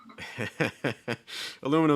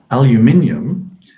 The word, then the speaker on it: aluminium: notice yeah good give this one a go aluminum is always one of those fun words yeah for compare aluminum is especially awesome in autumn okay so aluminium is especially awesome in autumn awesome in autumn